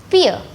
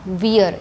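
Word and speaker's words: vier: For an example, the number 4, fear. Fear. It is not wear, it is fear.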